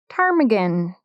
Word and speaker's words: ptarmigan: Today's bod is called the rock ptarmigan with a silent P.